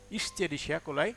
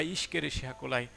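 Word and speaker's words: Escherichia coli: এর পুরো নাম হচ্ছে ইশচেরিশিয়া কোলাই, ইশচেরিশিয়া কোলাই বা ইশকেরিশিয়া কোলাই, যেটাই বলো না কেন।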